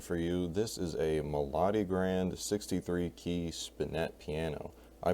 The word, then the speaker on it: Melodigrand: way to pronounce it i like melody grand because melody makes sense but the melody grand